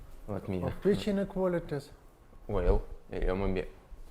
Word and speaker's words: Weyl: Weyl, maybe. This name should be pronounced Weyl.